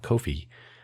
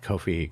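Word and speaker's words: Ko-fi: But also, neither buy me a coffee nor coffee uh Kofi. I say it differently because they spell it funny.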